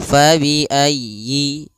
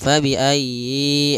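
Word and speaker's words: فَبِأَيِّ: ayat eh 23 yaitu fabiayyi ya ditekan yinnya fabiayyi ala Jangan fabiayi a jangan dipanjangkan atau ai la tapi tekannya nya ayyi fabiayyi alala Kemudian pada lafal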